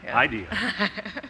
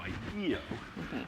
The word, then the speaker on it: IDEO: And because IDEO, which I will now pronounce correctly. IDEO, as opposed to IDEO. I pronounced it wrong for years.